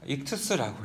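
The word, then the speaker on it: ἰχθύς: 그리스 말인데 그 뜻은 익투스라고 읽어요.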